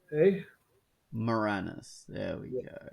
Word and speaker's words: Moranis: Oh, how do you pronounce? Well, you're Canadian. He's Canadian, so you can tell me. Moranis, eh? Moranis. There we go. Not Moraine.